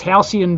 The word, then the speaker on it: Halcyon: And it's Halcyon beer. Oh, so, yes. That's how you pronounce Halcyon.